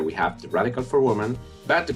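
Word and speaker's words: 我们: of it here we have the radical for woman but the pronunciation is the same as he so we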